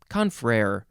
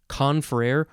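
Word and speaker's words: confrère: um first of all you can emphasize either syllable conferrer or conferrer you could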